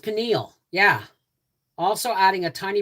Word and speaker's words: pineal: It's pronounced pineal, yeah.